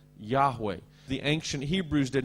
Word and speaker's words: Yahweh: The name of, in English we often say Jehovah, and probably the Hebrew pronunciation is something like YAHWAH.